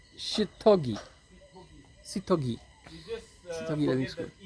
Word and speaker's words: Seithogei: Remove the E. Ah, The E will confuse your pronunciation.